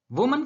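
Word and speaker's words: women: यहां देखिए, वुमन का प्लूरल होता है विमेन। प्रोनाउंसिएशन गौर करिए दोस्तों, वुमन का प्लूरल होता है विमेन, मैन का प्लूरल होता है मैन, और चाइल्ड का प्लूरल होता है चिल्ड्रन।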